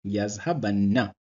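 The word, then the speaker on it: يذهبنّ: Yazhabu plus Nun Saqila equals Yazhabanna. Note the anna ending sound at the end.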